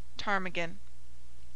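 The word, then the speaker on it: ptarmigan: as in him condemn P before s and t is mute as in Psalm pseudo tarmigan pronounced Psalm pseudo tarmigan R has two sounds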